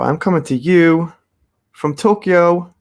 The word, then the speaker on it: Tokyo: coming to you from tokyo not toka tokyo japan some people think i say toka japan because i guess i say it real fast i say tokyo but it's actually k y o and some people think